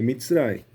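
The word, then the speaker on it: מצרים: De Bitsrai, tá? você vai ter que começar a aprender hebraico em algum momento, né? Então é mitrai, é o jeito que se pronuncia.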